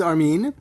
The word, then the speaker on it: Armine: It's spelled a little bit differently than it's pronounced. Absolutely. So, it is Armin. I do come from Montreal, so a French-speaking area. And my parents, for some reason, decided to put an E at the end. But considering that in French the E is silent, it was never really